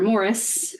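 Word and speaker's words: Maurice: so the options are Morris which is spelled like morrice from 19 1987 starring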